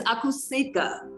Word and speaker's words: Akusika: My name is Akusika. It's pronounced Akusika.